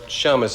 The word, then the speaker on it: Shamus: Uh Shamus, if you're Jewish, Shamus is the correct pronunciation.